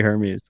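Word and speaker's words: Hermès: go with the uh is Hermes right I'm gonna go with Hermes the French uh clothing line it's definitely Hermes um on that note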